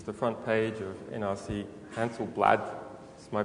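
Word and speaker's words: Handelsblad: Right here, earlier this year, in the Netherlands, this is the front page of NRC Hansel-Blad. Is my pronunciation correct? No. Hansel-Blad.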